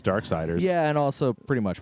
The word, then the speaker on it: Darksiders: It rhymes with sliders.